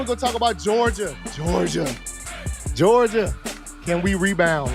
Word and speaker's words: Georgia: You got to put it like make it two syllables, like split in the middle as if it's two separate words or whatever.